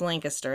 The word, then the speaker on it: Lancaster: Yes, in Ohio it's pronounced Lancaster and not Lancaster.